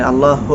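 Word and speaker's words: الله: দেখেন প্রথমে যখন আপনি আল্লাহু আকবার বলবেন লাম লাম জবর আল লামে জবর লা হাফেশহু অর্থাৎ আল্লাহ শব্দ লামের পূর্বে যদি জবর অথবা পেশ হয় তাহলে ওই লামকে মোটা করে পড়তে হয় তো প্রথমে বলতে হবে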